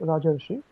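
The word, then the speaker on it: Rajarshi: Sage this rajar RI that's your pronunciation is correct Raja rushi I'm giving you the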